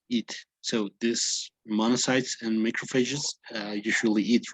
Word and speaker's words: macrophage: You know, like uh, the PH sounds like an F, right?